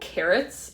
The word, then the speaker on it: Kerrits: But it's the brand Carrots, and it's spelled like that, which is Kerrits.